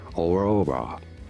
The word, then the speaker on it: Aurora: Aurora, you do want to stress on the middle syllable, or raw.